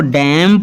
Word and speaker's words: damn: आगे है DAMN इसको डैम पना है, ना कि डायमंड, क्लियर।